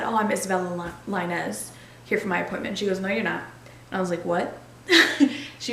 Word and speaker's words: Lainez: Reading it, most people say Lanes, but that's incorrect. So a lot of times what I tell people is just Linez, but when my dad